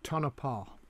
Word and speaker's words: Tonopah: I've been asked to explain the word or to pronounce the words. It's Tucson, obviously, Tucumcari, Techepi, and Tonopah.